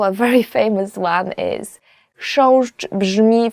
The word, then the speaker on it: Chrząszcz: will ever learn in Polish, as for the pronunciation, is chrząszcz.